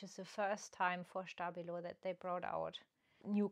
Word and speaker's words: Stabilo: Yes, I got those from a Japanese online shop, and this is a Stabilo, again German brand, and it's pronounced Stabilo, because they recently brought